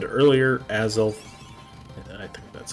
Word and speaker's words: Azelf: So, as I said earlier, Azelf, I think that's how you say it. Azelf, yep.